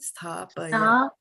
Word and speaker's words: sthāpaya: Sthāpaya. Sthāpaya. But give it even more soft on that in these two. Okay. Yeah. Sthāpaya. Yeah, you got it now, right? So go very soft on these two.